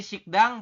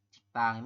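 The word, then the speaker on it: 식당: ini yang depan ya dari sikdang berubah bunyi menjadi sik siktang ya ini kan siktang ini berubah kemudian selanjutnya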